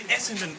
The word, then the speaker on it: Essendon: Here we are in Essendon Station. Is that how you pronounce it?